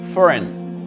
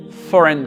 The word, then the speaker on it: foreign: Et ici, foreign. Foreign. Le G, pareil, n'est pas prononcé. Donc, on dit foreign country.